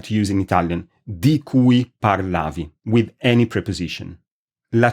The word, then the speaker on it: cui: The relative pronoun is spelled with a C, and it is pronounced cui. I'll say the difference, I'll say both of them again for the difference. Qui, cui.